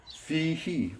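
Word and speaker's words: فيه: Now this is fi. Fi is two letters. It's F with a long E verb, ya. And so we have fi, he. He is a subject pronoun. Now, if it wasn't attached to this preposition, it would be pronounced hu. But when it gets attached to a preposition, it changes to he.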